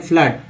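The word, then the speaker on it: flood: फिर कहते हैं एफ एल डबल डी में फ्लड को क्या पढ़ते हैं, तो आप पढ़ते हैं, बोलते हैं फ्लड।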